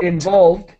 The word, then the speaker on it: involved: then absorbed and involved. The ED is pronounced as a D as quickly as possible.